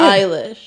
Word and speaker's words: Eilish: Eilish? Is that how you say it? Eilish. Okay. I learned something today.